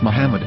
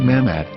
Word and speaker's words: מחמד: According to Ben Yehuda's Hebrew-English dictionary, it is correctly pronounced as Muhammad, not Mamad.